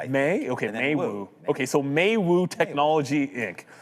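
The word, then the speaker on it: Meiwu: Like I'm not pronouncing It's Maywu. Maywu? Yeah, M E I is May, I think. May? Okay, Maywu.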